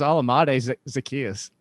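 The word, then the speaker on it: Olamide Zaccheaus: It's not that hard. It's Alamade Zacchaeus.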